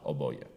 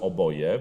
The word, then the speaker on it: oboje: bardzo starzy bogowie oczywiście musimy uważać żeby żeby nie podkreślić wyrazu oboje prawda i to jest to na pierwszą sylabę która w języku polskim jest zaakcentowana bo wyjdzie nam to bardzo nos czeska będzie to brzmiało przechodzimy dalej mamy do